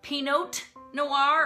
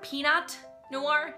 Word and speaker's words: Pinot Noir: Number 18, pronouncing the T in Pinot Noir. Pinot Noir or Peanut Noir?